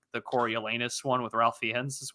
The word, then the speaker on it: Coriolanus: How do you say Coriolanus. Coriolanus. There you go.